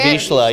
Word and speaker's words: Vizsla: This is a Vizsla, yes.